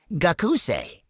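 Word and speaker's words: 学生: And that sei sound, it's pronounced just like the English word say.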